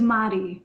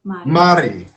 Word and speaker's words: Mari: about to get corrected was i saying your name wrong is marty mari yeah i'm rude marty it's okay you gotta put the spanish twist to it you know can you rate the tongue like like that yeah you gotta roll the